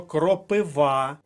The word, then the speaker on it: кропива: ще кажемо наступне слово кропива наголос на третьому складі третя колонка це слово Вам уже мабуть знайоме дякуючи поплавському Кропива ти моя кропива третій склад кропива рухаємося далі агрономія наголосна